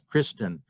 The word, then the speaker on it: Christen: might be entered as Christen pronounced christe with no Final End magdalina might be Madina